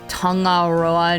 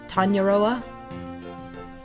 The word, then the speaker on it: Tangaroa: I'm Tang Tangaroa. Tangaroa. Tangaroa. Pronunciation is more like tong. Oh, okay. More like tongoa. No hard g like mango. Okay. Tanya Tanyaoa Tanyaoa. Is that right? Correct. Tanyaoa. Tanyaoa.